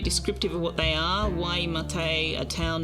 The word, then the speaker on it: Waimate: Pronunciation is roughly Waimate.